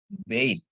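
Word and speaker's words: בית: ya Bapak Ibu ya Bet B dengan akhiran tab dia jadi bacanya bait ya b dengan akhiran tab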